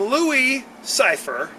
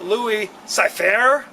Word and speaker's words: Louis Cyphre: Angel it's he goes he says I'm Louie cypher however hair age always calls him Louie cyfair or something like that stuff he'll see